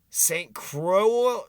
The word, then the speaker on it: Saint Croix: around here are you Saint Crow Crow x x is silent you're not from around